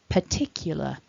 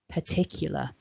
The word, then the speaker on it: particular: together again we've got remember stress syllable two particular particular and as you can